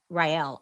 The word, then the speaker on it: Rael: My mom's maiden name is Ryel.